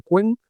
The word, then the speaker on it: Qwen: que Alibabá ha presentado la tercera versión de Quen. Quen, os recuerdo que se escribe QW M.